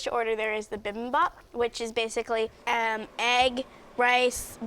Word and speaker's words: bibimbap: Bibimbap. Bibimbap.